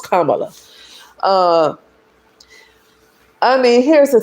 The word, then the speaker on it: Kamala: in office instead of Camala. Kamala. I do want to say her name right. Even though I did not want her to be the president, I do want to say her name, right? Her name is Kamla.